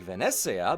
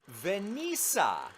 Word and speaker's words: Venezia: It should be something like Venezia, but I instead called it Venisa.